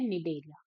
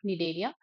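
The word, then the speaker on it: Cnidaria: यहां पे क्या है निडेलिया यहां पे ये जो सी है वो क्या होता है साइलेंट होता है ठीक है तो इनका नाम क्या है यहां पे कॉमन नेम निलेरिया।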